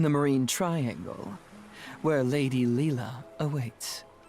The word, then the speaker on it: Lila: I think it's our only option is to talk to Leela.